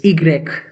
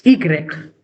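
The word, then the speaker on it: i grec: Y is pronounced as Egreg and Zed is pronounced as zed zed.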